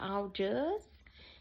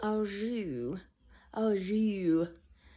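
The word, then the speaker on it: au jus: going to have the French dip with the all just and she said it's not pronounced all just it's French it's all o and she was like well it's spelled all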